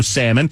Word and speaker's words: salmon: I don't want to talk about no salmon because then I have to not pronounce the L, otherwise I get yelled at.